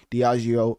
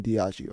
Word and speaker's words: Diageo: spelling, so you can tell me how it's pronounced. I think it's Diageo. Also the owner of Ciroc, but that's a complete understatement. Diageo owns everything in the liquor business.